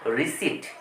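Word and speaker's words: receipt: রিসিপ এইটা রিসিপ নয় এই পিটা সাইলেন্ট বলতে হবে রিসিট রিসি তাহলে আমরা ছটি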